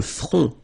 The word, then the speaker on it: front: Final T not pronounced. Le front. Okay, remember this nasal on, on.